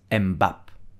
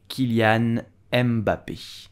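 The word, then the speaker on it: Kylian Mbappé: you will say foreign you have an accent at the end so you will pronounce and not embap Kilian mbappe did you know that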